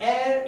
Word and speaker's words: heir: અ, કારણ કે અહીંયા H is silent. Honest main એક પ્રામાણિક માણસ છે, એન્ડ એર એટલે કે વારસ છે, બરોબર, જેને સંપત્તિ વારસામાં મળે એને ઇંગ્લિશમાં કહેશું એર. આ હેર નથી લખ્યું, પ્લીઝ બી કેરફુલ.